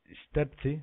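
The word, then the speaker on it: Štrpci: Este pueblo de nombre raro, Sterci, se pronuncia, es una estación, una pequeña estación, en un sitio curioso.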